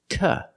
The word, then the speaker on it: to: to afraid to speak two is after a consonant for this reason we cannot pronounce it duh we pronounce it ta afraid to afraid to speak not afraid to speak afraid to using the T sound and a short SWA afraid to speak the